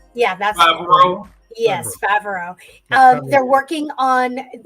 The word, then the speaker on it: Favreau: Oh, Dave Filoni and John, I can never remember, pronounce his last name. Favreau? Yeah, that's Favreau.